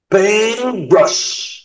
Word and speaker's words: paint brush: بينت برش. بينت برش. بينت برش. بينت برش. ما ننطقش التي.